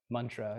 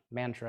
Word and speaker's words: mantra: whenever you see uh the letter A on a Sanskrit word without a line over it that means it's pronounced like uh if it is a line over it it's ah so like Mantra is not Mantra or